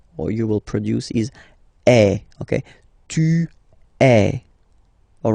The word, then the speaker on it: est: So il est, or then elle est. So you can notice that even if we write them differently, this est like that and est like that, we pronounce them the same way.